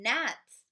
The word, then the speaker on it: gnats: Oh my goodness, there are some gnats flying around the boy's head. How do we spell gnats? Did you get with the silent G in the front?